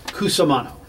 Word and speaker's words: Cusumano: Cusumano.